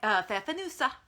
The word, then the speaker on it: Pfeffernüsse: Also Pfeffernüsse, which is how he was taught to pronounce it. I don't know how other people pronounce it, but Pfeffernüsse, which are